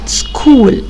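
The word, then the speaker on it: school: بتاع الك في مدرسه سكول كلمه كلمه مدرسه يعني ايه سكول عندي هنا حرف السي هنطق كاف والاتش سايلنت كول كلاب هنا برض السي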